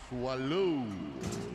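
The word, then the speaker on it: Soileau: in 2020 Gavin swallow swallow that's how they say it in the Cajun Country but he's going to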